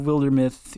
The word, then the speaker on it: Wildermyth: game like that is wildermyth have I told you about that game mm- it's spelled Wilder and then myth like mythology Wilder myth okay it is a